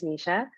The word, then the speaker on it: Nisha: should hi yeah so you pronounced my name correctly it is Nisha and I'm from Toronto